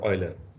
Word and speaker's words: Euler: euler right so eu is usual is is pronounced as i in in german so that's why it's it's called euler okay so g has an uh euler tour